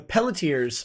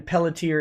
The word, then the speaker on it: Pelletier: r and see now someone's saying the rn pelletier is silent but i don't think it is they can shut their horror mouth it's like one of the few french words like french names where the r isn't silent at the end of